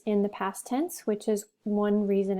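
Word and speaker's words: hizo: irregular so it's ise you don't pronounce the h iso is were you right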